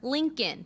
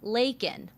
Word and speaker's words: Laken: elal critics pointing out he called her Lincoln instead of Laken others zeroing in on